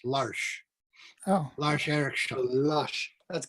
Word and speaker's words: Lars: It's Lars, but it's pronounced Larsh.